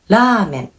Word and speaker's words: ramen: So the first word, ramen. This is how Japanese people will pronounce it. But for English speakers, you might say ramen.